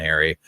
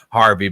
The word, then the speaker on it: Harvey: I go between Harvey and Harry. Harvey being the correct one.